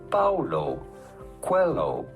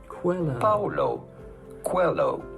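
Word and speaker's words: Paulo Coelho: to pronounce that how do you go about pronouncing his name Paulo Quello Paulo Quello pretty straightforward once you know Paulo hello cuello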